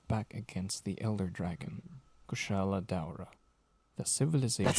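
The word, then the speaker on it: Kushala Daora: jungle region that fought back against the Elder Dragon, Kushala Daura. The civilization That's how you pronounce in it?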